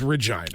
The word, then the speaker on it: Regina: The capital of Saskatchewan, while it sounds like it should be Saskatoon, is Regina. It is the city that rhymes with right.